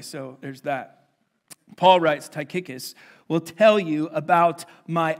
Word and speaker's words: Tychicus: about this name all right his name is taikikis and I promise you that is how you pronounce it and if it's not then you're